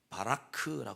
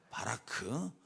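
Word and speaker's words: ברך: 복이라는 단어가 성경에 나오는데 성경에 히브리 말로 복이라는 말을 어떻게 발음하면 바라크라 발음해요 뭐라고요 바라크 우 이제 학교 다닐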